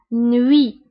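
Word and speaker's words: nuit: هنا تي في اخر الكلمه لا ننطقها نوي.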